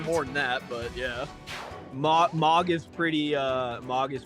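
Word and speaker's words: Mohg: hate also I hate the fact that it's pronounced MOG I said Moog for the longest time that I was told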